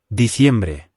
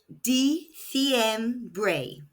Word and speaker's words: diciembre: pronounced diciembre. That's December. Both I's are making an E sound, and the C is making a S sound in European Spanish and a S sound in Latin American Spanish.